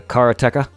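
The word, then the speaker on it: Karateka: keep forgetting this pronunciation it's the Cara TECA the black belt essentially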